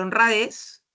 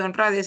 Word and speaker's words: honradez: Entonces, en la lámina estamos viendo dos palabras, la palabra honradez y la palabra azúcar, ¿no? Ambas palabras tienen una sílaba que lleva la mayor fuerza de voz.